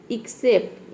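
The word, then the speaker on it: except: एक्सेप्ट, यहाँ पे भी देखिए आधा क और स के साउंड के लिए एक्स लिखा गया है, और यहाँ पे भी सी लेटर क्या है? साइलेंट है। क्यों? क्योंकि एक्स के बाद सी आया है इसलिए।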